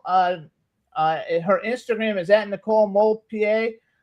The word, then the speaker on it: Demoulpied: Just make sure you put the D in there, since you don't hear it when you pronounce it.